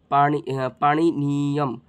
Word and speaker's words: পাণিনীয়ম: এখানে ভালো করে দেখবে, পানি এখানে মূর্ধন্য ন আছে, এখানে দীর্ঘ ই আছে, তাহলে উচ্চারণটা এরকম পাণিনীয়ম, এখানে দীর্ঘ উচ্চারণ করবো আমরা।